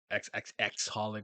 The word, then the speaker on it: xxxHOLiC: Reservoir Chronicles um clamp if you like card Captain Sakura if you're into holic um xxxholic well I don't think you pronounce the X's which is the other